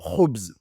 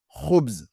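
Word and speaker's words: خبز: Donc, ici, on a le mot Khoubz. Khoubz. Nous avons la lettre Kha au début.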